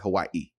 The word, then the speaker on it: Hawaii: I went to Hawaii. And uh that's how they say it. Hawaii.